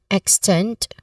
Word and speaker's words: extend: Now, pronunciation wise, we focus on the word extend, which has a short a short E sound, an initial E sound, extend. Now, second syllable is the stressed syllable here, extend. Okay, extend. One more time, extend.